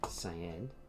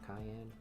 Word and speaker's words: cyan: next uh secondary color cyan uh that is how you say it right cyan not Cayenne like pepper Cy I believe that's